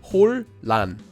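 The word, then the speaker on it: 혼란: The next syllable begins with a lil, so the nian at the bottom of 혼 changes into a lil, and we get 홀란, 홀란.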